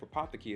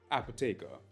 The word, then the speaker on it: Apotheke: to me from Apothecary quick disclaimer the correct pronunciation of Apothecary is actually apoteka which is a German term that translates to